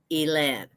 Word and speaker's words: Elen: name is not Elaine there's no e on the end it's elen and you see this